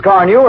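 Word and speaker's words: Carnu: Why don't you buy a can of Johnson's Car New and wax polish your car this easy way? Here's how it's spelled.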